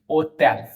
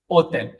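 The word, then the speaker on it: hôtel: ओतेल, ओतेल। अब यहां आने से पहले, इस प्रोनाउंसिएशन के पैटर्न पे आने से पहले मैं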